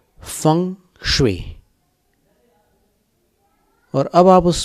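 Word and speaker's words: feng shui: चीनी पद्धति फं स्वे जिसकी अंग्रेजी स्पेलिंग को देखकर भारतवासी फै शुई बोलते हैं जबकि चाइना में उसको चीन देश में फवे बोला जाता है फंग श और अब आप उस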